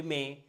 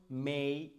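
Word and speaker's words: may: কিন্তু অনেক ভুল করি যেমন এটাকে আমরা বলি মে ডে সে টুডে আসলে যখন আপনি আপনি যদি ব্রিটিশ বা আমেরিকান এক্সেন্ট ফলো করেন যেকোনো একটা ফলো করেন কোন সমস্যা নাই কিন্তু ওরা কিন্তু ওয়ার্ডের শেষে যদি এ ওয়াই থাকে ওরা এটাকে এ না বলে বলছে এই যেমন মেই সেই ডেই টুডে মানডে সানডে তার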